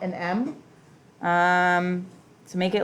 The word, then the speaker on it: mu: long tail out front this is not an m um to make it like you would a u